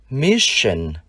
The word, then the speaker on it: mission: Trong từ sứ mệnh, chúng ta phải đọc cong lưỡi, mission.